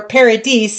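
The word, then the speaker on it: Paradice: Their album Paradise or Paradise, it's spelled P A R A D I C E.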